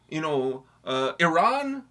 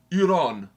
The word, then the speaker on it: Iran: the journalist was like, please stop mispronouncing our name. We are Iran, not Iran. And the guy was like, it was very tense.